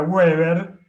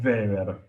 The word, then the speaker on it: Weber: no hablo alemán fluido mi pronunciación está educada para pronunciar la W como una B corta y la b corta como una F este en alemán eh en inglés sería Weber en alemán es Weber digámosle como querramos decirle